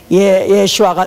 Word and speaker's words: 예슈아: 이건 히브리의 아니 아라모의 아 원래 원음 원음 그대로 그 발음 그대로 하는 것입니다. 우리는 그것이 어 번역 과정에서 변했기 때문에 예슈아가 예수가 된 예슈 예수였었는데